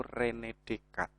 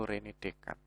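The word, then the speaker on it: René Descartes: filsuf yang namanya itu Rene dekat jadi tulisannya itu Rene Descartes tapi membacanya ya itu Ren dekat ini kan punya gagasan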